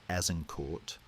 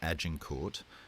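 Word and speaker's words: Azincourt: On the evening of October 24th, near a tiny village called Azen Court, or Ajinort, as the English will forever mispronounce it, the trap snaps shut.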